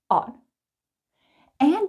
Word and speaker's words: oughta: Ought, ought. And because ought ends with a T, and the next word starts with the T, we just put them together.